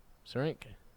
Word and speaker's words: Syrinx: It's an X at the end, so it's a syrinx.